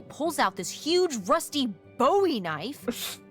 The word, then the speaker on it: Bowie: no warning he pulls out this huge Rusty Bowie knife it's actually pronounced buoy what no it's it's like the last name